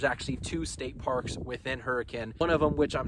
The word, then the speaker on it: Hurricane: spelled hurricane but us locals out here actually pronounce it hurricane so just roll with it for me but